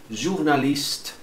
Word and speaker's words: journaliste: Journaliste, não vai pronunciar o E. Journaliste, esse T é soprando mesmo.